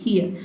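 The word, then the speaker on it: here: यहाँ पे हीर इसको नहीं पढ़ेंगे, इसको पढ़ेंगे हियर, ठीक है।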